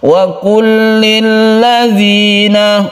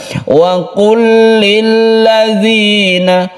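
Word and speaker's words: وَقُلْ لِلَّذِينَ: Wa kullil ladzina, wa kullil ladzina. Ada lam bertemu dengan lam kita sebut dengan idgham mutamatsilain. Idgham mutamatsilain itu adalah apabila ada dua huruf yang sama, yang satu sukun, yang satu hidup, itu sama persis sifat dan makhrajnya.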